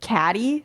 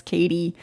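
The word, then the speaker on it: Cady: think yes um however it's spelled with a d so it looks like caddy so everyone pronounces it wrong and she says like she always has to apologize like sorry no it's Katie um so anyway she used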